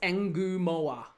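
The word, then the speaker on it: Ngumoha: Uh, John, is it not Enorma? No, it's Enu Moa. His name is spelled N G U M O H A. So, it's three syllables. Enu mo. It's actually four syllables, isn't it?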